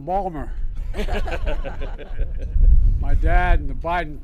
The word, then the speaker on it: Baltimore: folks I say to my dad dad they're mispronouncing Balmer my dad and the Biden please sit down